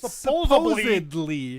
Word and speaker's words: supposedly: It's Supposedly. Yeah, Supposedly. There's no B. Supposedly. No, it's a D.